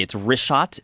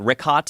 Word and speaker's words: Richat: Yeah, in the first couple, I just want to say it's Richat. I used to call it Ricot. I was mispronouncing it.